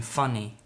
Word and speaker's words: funny: In Fanny, and we've got in funny, okay? So it's the same as in cat and cut.